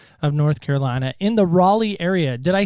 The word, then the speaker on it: Raleigh: Yes, you said Raleigh correctly.